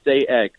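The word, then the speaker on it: Sayegh: morning thanks to YouTube genetically pronounced day egg there you go now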